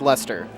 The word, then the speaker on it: Leicester: brown sauce stuff yeah Leicester City English English soccer team L gotta think about this Ellie I see e ste are pronounced luster they won the the